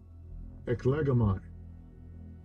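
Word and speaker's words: ἐκλέγομαι: Eklegomai, eklegomai, Thayer's lexicon, eklego, eklego. Yeah, and that would be the pronunciation in the Greek for that word chosen.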